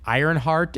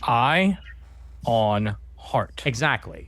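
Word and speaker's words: Ionheart: Ironheart is Marvel. This is Ironheart. There's no R. Please make sure to say it correctly. Right. Eye on heart.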